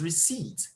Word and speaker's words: receipt: The P there is silent. The word is pronounced as receipt, not receipt.